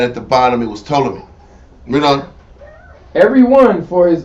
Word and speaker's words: Ptolemy: Tony told me either the p is silent it's dumb but it's true the son of Legos seized upon Egypt Ptolemy controlled Egypt right on